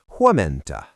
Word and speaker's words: huomenta: Teacher: To say "Good morning," we add Huomenta. Mnemonic: In the morning, you stay at Home-menta.